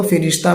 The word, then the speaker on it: فرشتہ: استعمال ہوتا ہے، اور فارسی زبان میں اس کو فرشتہ پڑھا گیا ہے، اس لیے ہم بھی اس کو فرشتہ پڑھ رہے ہیں، یعنی اس کا تلفظ فرشتہ ہے، اگرچہ سبھی لوگ اس